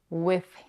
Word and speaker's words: with: In general, with can be pronounced in two ways. With a voiced th, with, or with a voiceless th, with.